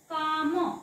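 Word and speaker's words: calm: एल आलाय का half काम आता याच्यामध्ये का ल आणि म असा वाचायचा नाही एल वाचायचा आहे का नाही वाचायचा आहे कारण एल सायलेंट आहे त्याचं कारण चार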